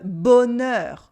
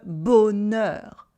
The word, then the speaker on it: bonheur: It would sound like a weird mistake if you were saying coiffeur and bonheur with this very closed E.